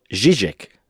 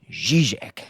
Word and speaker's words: Žižek: No le prometo que de ahí para adelante la cosa mejore o mantenga el nivel de mi pronunciación. Pero bueno, pues el señor se llama Slavoj Žižek. Žižek, sí señor.